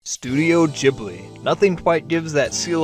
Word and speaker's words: Ghibli: And yes, I'm going to be pronouncing it as Ghibli the whole time. Studio Gibli. I've heard it both ways. And I think it's funner to call it Jibli.